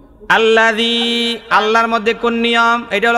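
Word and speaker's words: الله: দিব কি দিবেন কি দিবেন এইবার হল আল্লাহ আল্লাহ আল্লাহ এই লাম কিন্তু মোটা হবে না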